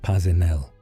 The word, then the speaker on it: Paisnell: His name was Edward Paisnell, pronounced Pazinel.